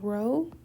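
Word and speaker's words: rho: B of n being row that's how we pronounce it it's not pronounced p and so there are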